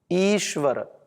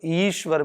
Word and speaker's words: ईश्वर: ईश्वर तो ईश्वर में जो इ है वो दीर्घ है। ह्रस्व नहीं है। ईश्वर नहीं बोलते हम ईश्वर। बोलते ईश्वर ईश्वर क्योंकि वह दीर्घ है तो यह हमें बता